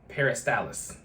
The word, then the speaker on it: peristalsis: Peristalsis.